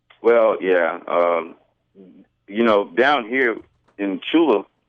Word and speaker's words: Tchula: Down here in Tchula, and the T is silent. Thank you. In Tchula, Mississippi, the most of the time we're patrolling either alone or there's one or two officers on duty.